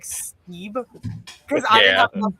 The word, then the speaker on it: Steib: say like, hey, like it's pronounced Steib, not Steib.